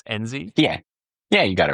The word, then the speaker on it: Enzi: I forgot to ask, actually, before I hit record, am I pronouncing that correctly? It's Enzi? Yeah, you got it right, Enzi.